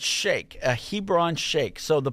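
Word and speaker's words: sheikh: So this guy is called a a shake. Okay, I would have said shik because that's what I thought it was, but it's shake.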